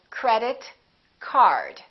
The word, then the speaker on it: credit card: For example, credit, card. Credit card. Two words representing one object. We stress the first word.